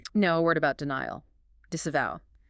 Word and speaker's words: disavow: Disavow.